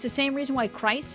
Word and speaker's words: Christ: Um it's the same reason why Christ is pronounced like with a K sound.